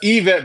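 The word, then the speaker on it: Yvette: No, no, it's it's Evet, but it's spelled with a Y.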